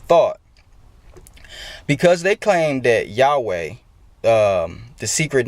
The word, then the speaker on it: Yahweh: what people were saying Yahweh or Jehovah. But I believe that the pronunciation, I guess, should be Yahweh, because it's Yod, Hey, Vav, Hey.